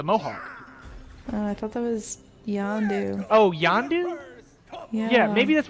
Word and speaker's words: Yondu: I thought that was Yondu. Oh, Yondu? Yeah, maybe that's what... No, you're right. I had it right the first time. I thought it was Ronin. No, it's Yondu.